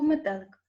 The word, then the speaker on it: метелик: ненаголошений покличемо третє слово метелик метелик склад падає наголос падає на другий звук е на другий склад назвіть ненаголошені склади в